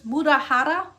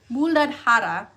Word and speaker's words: Muladhara: Muladhara. Muladhara.